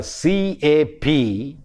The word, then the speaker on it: cap: in a word like c a p we tend to pronounce the word with a ear inside cap which is wrong now what is this